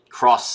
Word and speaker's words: Xross: Cross spelled with an X for some reason.